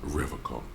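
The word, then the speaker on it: Revachol: stay strong forever call he pronounces rivercon with a hard K unlike other people mm-hmm oh so that's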